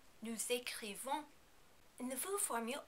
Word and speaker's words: nous écrivons: Although usually we do not pronounce the final S in nous, with the verb écrire we need to pronounce this S because écrivons begins with a vowel. Also, be careful as always not to overpronounce the last N.